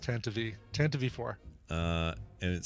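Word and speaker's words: Tantive IV: Darth Marcus says pronounced Tantive. Tantive 4.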